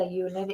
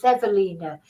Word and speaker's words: Ewelina: at was you Alina I shouldn't say Ulin it's evina it's a w but it's pronounced a v evina sasac now some of